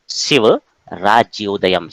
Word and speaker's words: शिवराज्योदयम्: ध्यान दीजिए, कई लोग अलग अलग तरीके से प्रोनाउंसिएट करते हैं। शिव राज्योदयम, शिव राज्य उदयम, शिव राज्य उदयम, इसको शिव राज्योदय भी कहते हैं लोग। तो शिव राज्योदयम।